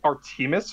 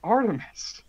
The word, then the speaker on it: Artemis: Did you just say Artemis Fowl? Yes, Why did you pronounce it like that? because he's Irish. I'm English. I get the judgment. It's pronounced Artemis. It's always been pronounced Artemis.